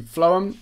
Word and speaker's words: phloem: Now, the phloem, and it's spelled like this, phloem.